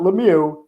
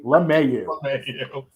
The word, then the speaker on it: LeMahieu: Another guy that she can't say his name right, and that is DJ, not Lemieux, DJ LeMahieu.